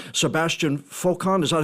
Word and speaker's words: Foucan: Because for those who don't know, it's Sebastian Foucan.